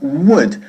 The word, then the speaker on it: would: Would. No decimos ni good ni would, porque la L, para empezar, es muda. ¿Ok? Muda. Decimos would.